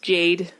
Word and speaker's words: Jade: It is pronounced Jade.